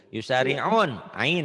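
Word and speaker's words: يسارعون: Kanu Yusariguna. Bukan yusariguna, terigu. Yusari'un, ain itu mah.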